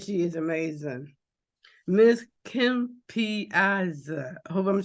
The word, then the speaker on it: Piazza: It's like pizza with an extra vowel.